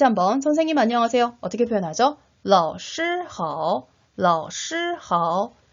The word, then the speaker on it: 老师好: 老师好. 다시 한번 선생님 안녕하세요. 어떻게 표현하죠? 老师好, 老师好.